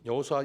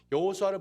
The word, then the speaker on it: 여호수아: 성경을 이렇게 해야 합니다 여호수아는 보통 우리는 여호수아 라고 하지만 또 영어발음 어떻게 합니까 조슈아 이렇게 하지 예수 약 2조 시와